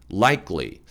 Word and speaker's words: likely: is likely to take place, likely. 자, 이 발음 많은 분들이 잘 못하시는데요. likely, 크 소리가 안 나고 likely, 끄 소리, 쌍기역 소리가 약하게 납니다.